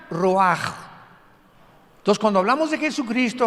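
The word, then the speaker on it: רוח: escribe ruach como suena con r de Raúl ch al final rach y se pronuncia raj Entonces cuando hablamos de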